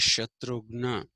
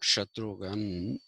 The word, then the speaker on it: Shatrughna: Shatrughan actually is Shatrughna, the brother of Rama. Not Shatrughan, it is their inability to say Shatrughna that it made him Shatrughan.